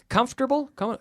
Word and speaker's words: comfortable: though comfortable uncomfortable now comfortable comfortable three syllables did it come comfortable